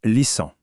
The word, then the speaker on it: listen: Un mot qu'on utilise tout le temps, listen. Le thé, on l'oublie complètement. Oui, ici aussi le thé est mué, on dit lissant.